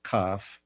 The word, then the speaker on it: Cafh: But in this dream, after I met some individuals who are part of a spiritual tradition that I'm participating called CAF, that's spelled Mm-hmm.